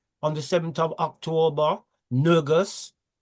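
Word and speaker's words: ንጉሥ: Then after Rastafari, on the 7th of October, Nergus, or we pronounce it Negus in the English, but it's pronounced Nergus in the Amharic.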